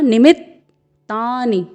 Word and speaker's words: निमित्तानि: निमित्तानि, यहाँ पे आप देख रहे हैं न में ह्रस्व स्वर है, फिर म में ह्रस्व स्वर, फिर अर्धवर्ण त है, फिर पूर्ण वर्ण त है। तो आपको यहाँ पर इसके उच्चारण के समय निमित्त अर्धवर्ण त में रुकना है थोड़ा सा। फिर तानि, क्योंकि पूर्ण वर्ण त में आ का स्वर है और पूर्ण वर्ण न में ह्रस्व स्वर है, तो आपको इसका उच्चारण करना होगा निमित्तानि च पश्यामि।